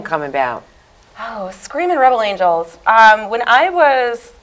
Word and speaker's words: Screamin': We're Screamin' without the G. To everybody. I don't know where I'm supposed to look. We're Screamin' but the G is silent.